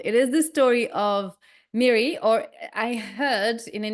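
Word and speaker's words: Mirri: is about well it is the story of Mary or I heard in an interview that it was pronounced Mary but it's written m i r r i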